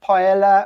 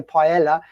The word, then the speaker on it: paella: It's just paella, or I say paella, which is pronounced badly, but my wife picks me up on that. But when I'm speaking English, I say paella, but it's paella, as you know.